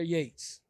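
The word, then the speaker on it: Yeats: doing a training is it's from William Butler Yates you don't spell it like yeah if you trace uh yeah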